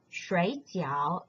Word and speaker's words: 水饺: When pronounced as 水饺 in the left-hand side, it means dumplings, a traditional Chinese food. When you change the tones into the fourth tone as in the right-hand side, the word is pronounced as 睡觉. Then it means to sleep.